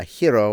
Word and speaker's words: gyro: we got in the uh hero or for those of you who don't know how to pronounce it correctly gyro line and um stood